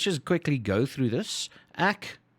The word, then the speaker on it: ek: quickly go through this ack pronounced like that is i yay pronounced like that